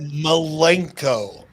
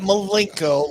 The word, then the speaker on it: Malenko: Bischoff with a CA it's a dancer malenko not Milenko like a link in the fence all one would have